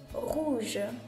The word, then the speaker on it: rouge: フランス語で rouge rouge と発音します。